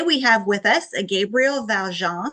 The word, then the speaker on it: Gabriel Valjan: Today we have with us a Gabriel Valjan. Am I pronouncing that right, Gabriel? Yes, you are.